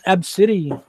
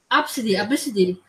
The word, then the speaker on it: Abcde: Now Well, saying the article Absidy, said it for us. The article said it, a little bit. They said pronounced absidy, because cannot even really say. So yeah, Absidy.